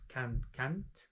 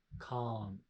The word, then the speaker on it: can't: It's not can't. It's can't. Like how do you say tia? Tia. My auntie, aunt, ah is the sound. Three sounds here, the open A.